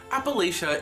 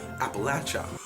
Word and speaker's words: Appalachia: What happened during one rehearsal was, just to be clear, Appalachia is a northern pronunciation. The southern pronunciation is Appalachia.